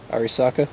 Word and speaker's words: Arisaka: how do you pronounce the name of it arisaka arisaka 1927 I don't know it's probably made